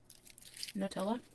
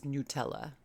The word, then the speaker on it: Nutella: made in Italy and that's how Italians in Italy pronounce it Nutella so I'm schooling you